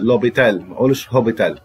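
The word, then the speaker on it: l'hôpital: لا ينطق خالص يعني مستشفى لوبيتال لا يبقى حرف الاتش غير منطوق عندي بعض الكونتاكت والفرنسيه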